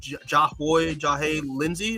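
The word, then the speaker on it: Jahnoy Lindsay: Okay, so with Absolute Green Lantern number 6, which is written by Al Ewing and Jahay Lindsay, that's how you say his name.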